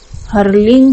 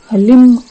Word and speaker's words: हलीम: तरह से है है तो सही में क्या उच्चारण है कि हरींग की मां भगवती बगलामुखी का बीज मंत्र नहीं है हर्लिंग भी नहीं है और हर लिंब भी नहीं है की मां बगलामुखी के बीज मंत्र का सही उच्चारण हलिम है मैं आपको मैसेज से उच्चारण करके बता रही हूं हलीम है है और कई बार